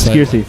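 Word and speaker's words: Scearcy: Skiersey. Skiersey? Skiersey. Like skier. Like S-K-E-E-R.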